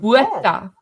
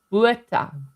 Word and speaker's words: Botha: Botha. It's Botha.